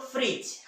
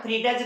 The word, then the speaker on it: fridge: एक सिंपल सा एग्जांपल है, सबके घरों में रहता है क्या, फ्रिज, FRIDGE, क्या पढ़ते हैं इसे हम लोग, फ्रिज, है ना, फ्रीडज नहीं पढ़ते।